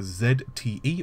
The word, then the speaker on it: ZTE: cell phone manufacturers including a Z te or ZTE depending on which you want to pronounce it of course AMD have